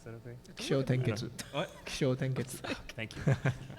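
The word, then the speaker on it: Kishōtenketsu: Did I pronounce that okay? Kisho Tenketsu. What? Kisho Tenketsu.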